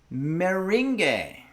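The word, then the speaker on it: meringue: than computer does it's it's indeed pronounced mering that's what I thought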